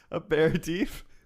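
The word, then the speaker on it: apéritif: Aperitif. Aperitif, yeah. Like I got punched in the face and like all I lost was aperitif.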